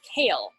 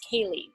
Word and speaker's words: Kaylee: pronunciation if you wanted so this person's name looks like to me like kale right but it's Kaylee and so you know